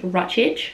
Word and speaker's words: Ruttich: keep it authentic um my surname is pronounced ruttidge so ruttich um that is hungarian my dad's half hungarian